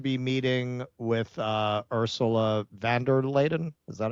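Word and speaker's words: von der Leyen: Um, he was supposed to be meeting with uh, Ursula Vanderladen. Is that how you say her name? Yeah, Vander Lion.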